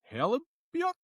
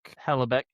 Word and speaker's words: Hellebuyck: Konnor Hellebuyck? Hellebeck, I think is how you say it.